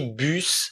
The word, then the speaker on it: bus: Une significa uma e bus é ônibus, beleza?